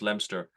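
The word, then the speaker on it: Leominster: like John TS in lemster um spelled Leo Minster L Leo m i n s ER but spelled actually pronounced lemster um John Tums was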